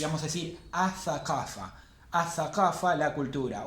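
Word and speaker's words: الثقافة: Y si queremos decir la cultura, le vamos a agregar el artículo al, pero la L no la vamos a pronunciar. Y vamos a decir athaqafa. Athaqafa, la cultura. O athaqafatu, como quieran.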